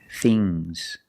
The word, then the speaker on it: things: Remember with ngs, it makes a soft g. Bangs. Bangs. Bangs. Things. Things. Fangs. Soft g.